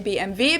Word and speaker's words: BMW: in German we say BMV because W is pronounced V in German and it stands for